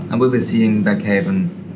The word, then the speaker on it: Baghaven: And we'll be seeing Baghaven. How is it pronounced? Baghaven. Oh, that's so easy. Yeah. It's not easy. Don't worry. Baghaven. I said Baghaven first, and I got told off.